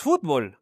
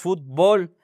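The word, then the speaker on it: futbol: fútbol sin acento, porque en México no decimos fútbol, decimos fútbol. Entonces, si ustedes escriben fútbol, por favor, muchachos, muchachas, quítenle el acento que le pone el autocorrector porque no lleva no lleva tilde.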